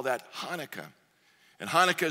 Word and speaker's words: Hanukkah: today we call that Hanukkah and Hanukkah spelled a couple different ways ones with an H the other ones with a CH because it's the way the Hebrew H is pronounced and I can't do